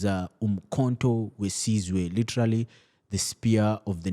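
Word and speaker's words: Umkhonto we Sizwe: Uh, if I'm to pronounce it correctly, it is Umkhonto Wesizwe, literally the spear of the nation.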